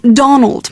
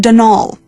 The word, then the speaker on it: Donal: the caretaker denal Delaney not Donald mind you there's no D at the end so it's pronounced denal that's the way you're